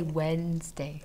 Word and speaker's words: Wednesday: and Tuesday so okay and Wednesday we spell it like this wet nest day this and that when we spell it yeah we say Wednesday rooms but when we spell we say wetness day remember that's a way to remember okay and then on